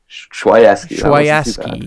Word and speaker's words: Chwaiewsky: Chwaiewsky? Chwaiewsky. Yes, sorry. Totally butchered that.